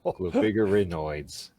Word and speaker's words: Globigerinoides: Got to get that G in there. Globerginoides. Globigurnoids. Well, Globigerinoids.